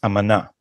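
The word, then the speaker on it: אמנה: So if shrapnel, so also let me correct your Hebrew pronunciation. It's amana.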